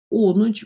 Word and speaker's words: Onuch: Onuch. please correct me if I'm wrong. Is that the right pronunciation? Onuch. Yeah, that's what I thought. Onuk, so my apologies.